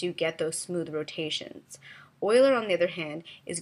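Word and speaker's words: Euler: well querian and Oiler it looks like it's uler but I've been told it's pronounced Oiler so querian is very much like locked and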